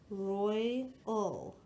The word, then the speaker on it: royal: This is a 2-syllable word, and OY is found at the end of the syllable. So this is royal, royal.